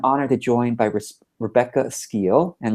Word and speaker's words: Skeele: to join by Rebecca ski and Rebecca am I pronouncing your last name correctly yes you are you did well great Rebecca ski is